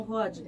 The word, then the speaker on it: Hodgkin: A pronúncia é essa mesmo? Linfoma não Hodgkin.